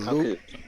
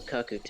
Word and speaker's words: Kakute: But Kaku. Lucas Bomb, have you seen my Smash Brothers Nintendo World reaction? Have you seen that? Okay, so I think it's pronounced the Kakute.